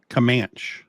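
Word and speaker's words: Camanche: no I'm in Comm comman okay it's spelled commane but they say comman okay you want to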